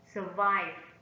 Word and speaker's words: survive: the second syllable four survive survive survive is evolve and step on the second syllable survival survival survival is